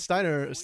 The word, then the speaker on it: Steiner: To us, it's Steiner. To Okay, the Steiner. Brazilians, it's Stinner. Yeah. Stinner. Okay, yeah. Because I remember like hearing you pronounce it slightly different. I was like, oh crap. Yeah, it's Stinner. Stinner.